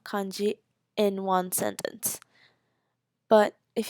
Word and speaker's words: kanji: major writing systems which are called hiragana Katakana kanji hiragana and Katakana are basically um called the Kana system is the pronunciations of the words so if you wanted